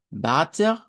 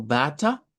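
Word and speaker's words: Vater: La vamos a hacer como una A un poquito más larga, ¿verdad? Bater, bater o bata. También podría ser si la pronunciamos no rótico.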